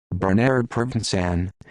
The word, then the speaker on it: Bernardo Provenzano: Bernardo Provenzano, Italian pronunciation, Bernardo Provenzano, the 31st of January 1933, the 13th of